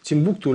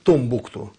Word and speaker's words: Тимбукту: городке африканском, в Малийском, Тимбукту, или правильно сейчас говорят, утвержденное название, там по-разному можно произносить, Томбукту.